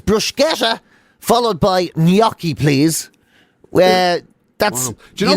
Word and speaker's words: gnocchi: Apparently you're supposed to put a Y in it. So apparently it's like gnocchi. Gnocchi. Gnocchi is supposed to be how you pronounce that. So it's bruschetta followed by gnocchi, please.